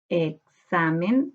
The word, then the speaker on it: examen: Busquemos ahora la sílaba tónica. Examen, examen. En sa está la sílaba tónica, por tanto esta palabra es grave, porque la sílaba tónica está en la penúltima sílaba.